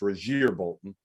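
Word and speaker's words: Rasir Bolton: And Andrew Nembhard and Rozier Bolton, by the way, it is pronounced Rozier Bolton, which Steve knows.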